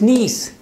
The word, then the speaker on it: niece: Some people pronounce this word as nice. It's not nice, it's niece.